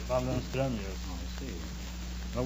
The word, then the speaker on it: Waldenström: No, it's umlaut on the O. In Sweden, you pronounce the name Waldenström. Waldenstrom? Waldenström, yes.